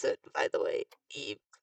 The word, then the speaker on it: Ib: E. It's like Eve, but not.